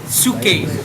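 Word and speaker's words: ψυχή: Suke. PSUCHE nih. Aku tulisin. Suke. Suke. Bacanya suke.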